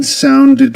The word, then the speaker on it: sounded: The ed ending in the word sounded pronounced as id because the word sound ends with a d sound with a dconsonant.